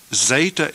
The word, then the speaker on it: zeta: met e Epson e Zeta is pronounced as the Z in the word Zebra z zet Z sometimes Zeta